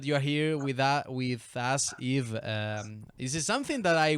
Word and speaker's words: Yves: Yves Allegro. Yves, Yves Yves Allegro. without the S, right? Exactly.